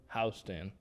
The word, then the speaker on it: Houston: And a Caleb Houston. Okay. I said it right. Houston?